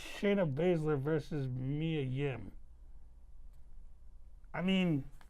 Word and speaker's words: Shayna Baszler: you, she reminds you, was it, how you pronounce her name? Sharon Beasley? Shayna Baszler. Shayna Baszler.